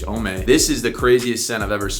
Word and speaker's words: Homme: I don't think you pronounce the H, Homme.